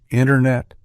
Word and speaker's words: internet: winter, internet, and sentence, the T often gets dropped entirely in casual speech. So instead of fully articulating the T, we commonly pronounce it as sentence, winter, international, internet, with the T mostly omitted.